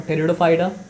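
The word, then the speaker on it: Pteridophyta: पी यहाँ silent है तो क्या सर आपको, टेरिडोफाइटा, फंस।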